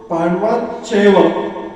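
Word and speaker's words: पाण्डवाश्चैव: Pronunciation सही होना चाहिए, क्योंकि संस्कृत में ऐड करते हैं तो बीच में श लग जाता है। आप तो पांडवाश्चैव, आप क्या पढ़ेंगे पांडवाश्चैव,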